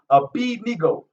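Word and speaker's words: Abednego: beat nego a bendigo they wanted to pronounce it a bendigo is i b nico is how his name is pronounced a-b-e-d-n-e-g-o a b-nego yeah i give all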